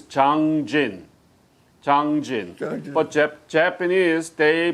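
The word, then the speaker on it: Jangjin: of chinese character and the actual korean pronunciation of that chinese character is zhang jin but japanese they pronounce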